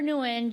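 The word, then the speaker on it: Nguyen: you know, a lot of that Vietnamese, we pronounce it new and they didn't say anything. But it's it's pronounced when like when. Yeah. Or newen.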